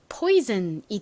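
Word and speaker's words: poison: 많다라는 것도 추가적으로 설명드렸죠 자는이 단어에서 즌 소리로 쓰였어요 나머지 읽어 볼까요 p 피읍 소리 나죠는 오 소리가납니다 그러면 포가 됐죠 아는이 소리가나요 연결해 보면 포이즌이 됩니다 엄정아 씨가 불렀던 노래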